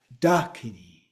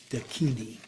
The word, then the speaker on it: dakini: And so the list above all would have an accent on the first syllable except the kini. And so where it is on the second syllable. Sanskrit pronunciations of these vary somewhat. So it may be pronounced as dakini. Okay, so the pronunciation may be a little, but in the West, it's usually dakini. Then consonants.